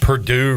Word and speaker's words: Purdue: Purdue rhymes with two.